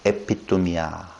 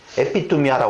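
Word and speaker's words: ἐπιθυμία: 근데 이 테슈카가 헬라어로 보면 에피투미아라고 그랬죠? 에피투미아. 이거 한글로 쓰니까 에피투미아. 에피투미아. 에피투미아. 투미아도 이렇게 써야 돼. 투미야. 튀니지 할 때? 투미야. 참 어렵다.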